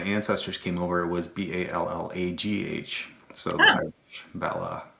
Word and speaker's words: Ballagh: But when my ancestors came over, it was Ballagh. So the Ah. Irish Balla, yeah. So the silent G there as well.